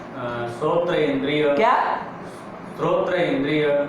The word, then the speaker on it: श्रोत्र: ये सोत्र, सोत्र तुम इतने मतलब उच्चारण करना भी नहीं सिखाया तुमको, क्या है इंद्रिय का नाम, श्रोत्र इंद्रिय, कभी भी उच्चारण गलत नहीं करना है, जबकि हमने बता दिया है एक बार में, क्या है वो, श्रोत्र इंद्रिय। हाँ, कभी भी गलत नहीं निकलना चाहिए, श्रोत्र इंद्रिय, ठीक है ना।